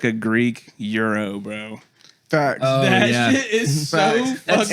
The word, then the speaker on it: gyro: the simple fact that you pronounced that Euro and said saiki properly gives you Kudos you didn't say gyro you didn't say gyro